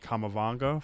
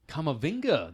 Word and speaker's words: Kamavinga: And Ndombele and Kamavanga from Rennes. Kamavinga, the 18-year-old.